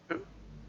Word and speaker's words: who: I mean, the W is silent in the word who. So having it stutter with the W by itself, it makes it look weird.